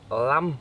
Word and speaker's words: lum: We call this lam, pronounced lam in Thai, spelt lum in English.